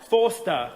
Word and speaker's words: Forster: Forster.